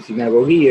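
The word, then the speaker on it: συναγωγή: Esa palabra tiene una derivación, la palabra sinagogué, o sinagogué, se escribe, se dice sinagoguí en griego, que significa los convocados, los reunidos, mejor dicho.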